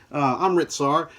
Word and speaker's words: Amritsar: Let me make sure I'm pronouncing that correct. Yes, Amritsar.